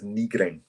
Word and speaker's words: Nygren: The correct pronunciation, I believe, is Nygren.